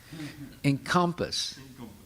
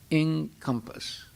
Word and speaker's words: encompass: on the second syllable encompass if you say encompass that that's a mispronunciation that's the french pronunciation it's not the english pronunciation put the emphasis on the first syllable okay go ahead including